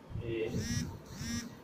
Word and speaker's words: Apigee: We pronounce it as Apigee.